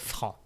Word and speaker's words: franc: You don't pronounce the C. You say il est franc.